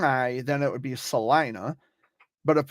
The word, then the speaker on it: Salina: right the first Salina so it's Salina the long eye Salina I'll say l-i-n-a yeah yes okay so it's pronounced Salina Kansas okay I remember